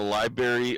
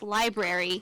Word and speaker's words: library: In the library upstairs. Okay, first of all, pet peeve. It's pronounced library, not library.